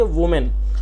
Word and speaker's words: woman: तो उसके लिए हमें WOMAN लिखना होता है, और जिसकी प्रोनाउंसिएशन होती है वुमेन।